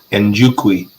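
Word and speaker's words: Njokuani: What is it? Njukwi. That's how you say it.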